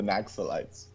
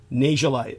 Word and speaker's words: Naxalite: In Western ears, Naxalite sounds euphonic. You know, Right. But the correct pronunciation, you think, to make it sound more Asian Indian, more correct, would be Najalite or Najalite, something like that.